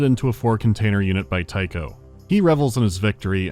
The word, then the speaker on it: Tycho: Tycho is here and actively devouring the other AI. Someone's after you personally. 1 word, 2 syllables, rhymes with psycho.